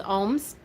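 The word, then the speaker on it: Ogham: the land into which are carved letters in ohm script that's see the letters there that's the ohm it's spelled o-g-h-a-o-g oh some people use o-g-h-a-m some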